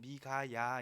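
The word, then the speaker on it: 미가야: 번역을 이렇게 하고 있는데 원래는 이제 발음은 미 가야 인데 누가 여호와와 같은가 라는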